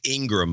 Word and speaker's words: Ingraham: It's Ingram, by the way.